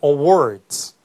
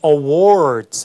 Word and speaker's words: awards: 영국식 발음은 굉장히 아주 둥그렇게 입술을 우하고 어둡게 소리가 내요. 오픈되지 않습니다. 그래서 이 awards 하는 게 아니라 뒤에 R 사운드로 이렇게 혀를 안으로 당기면서 하는 그 컬러링도 없기 때문에 awards 이렇게 발음되죠.